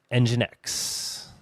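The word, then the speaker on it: nginx: NG I inx is pronounced engine X.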